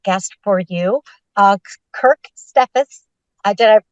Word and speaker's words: Steffes: have a great guest for you uh Kirk stephus did I pronounce the last name correctly yes oh perfect